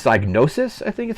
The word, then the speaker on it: Psygnosis: It was don't know if I'm going to pronounce the developer's name correctly, but I think it's Psygnosis, I think is how it's pronounced.